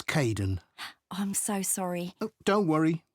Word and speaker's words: Kaden: Hi, Aiden. Uh, it's Kaden.